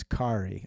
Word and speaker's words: Kari: And pronounce, because my grandmother was Kari or Kari, not Carrie.